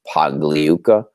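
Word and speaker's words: Pagliuca: american english pronunciation is pogliuka but in italian the g is silent when it comes before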